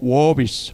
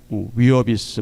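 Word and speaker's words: Wiersbe: 자, 한절 묵상 옆에 보면은 어 워비스 어 워비스 워런 위어비스 뭐 워비스로 발음하기도 하는데 이분이 이런 얘기를 했어요.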